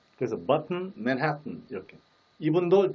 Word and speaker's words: Manhattan: 우리가 날마다 얘기하는 맨하탄 뭐 등등. 근데 그 원어민의 정확한 발음은 뭘까요? 맨하탄도 아니고 맨해튼. 그 다시 말하면 마지막 부분을 혀를 떼면 안 됩니다. 혀를 붙여둔 채 이렇게 처리를 합니다. 그래서 button, Manhattan 이렇게.